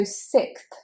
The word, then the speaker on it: sixth: So 6th is a k sound, so you've got that X being said as a k, and then th, as in the pronunciation that you would find in thumb. Thumb, 6th.